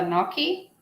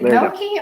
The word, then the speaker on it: gnocchi: Tina says the G is silent. I'm going to go ahead. So way out there. Boom. Hughes slime pods. Is it gnocchi or gnocchi?